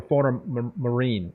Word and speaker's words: Fauna Marin: Is it fauna pronounced Fauna Marin or Fauna Marine?